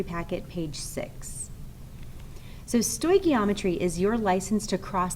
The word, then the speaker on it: stoichiometry: these notes and examples are from reactions in stoy geometry packet page six so sto geometry is your license to cross that mole ratio